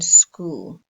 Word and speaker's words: school: and the silent h or h as in school so let's revise the silent b first now